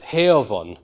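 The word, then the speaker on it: heofon: Now this letter f is pronounced as a v, and you can see why, because as I said earlier on, it's between two voiced sounds, specifically between two vowels. Vowels are basically always voiced, at least in Old English. So this is pronounced as a v, not a f.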